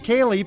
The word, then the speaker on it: Kaylee: look here's my answer my name is Kaylee pronounced like Haley look at me read